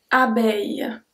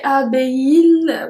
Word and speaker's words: abeille: Abeille. Beille. So we don't say abeille, we don't pronounce the L, we say abeille. Aille. It's like a long E, abeille.